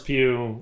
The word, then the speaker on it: Pugh: Is that how you pronounce it? Yeah, much like Florence. Pew, pew, pew, pew. Much like Florence Pugh, like...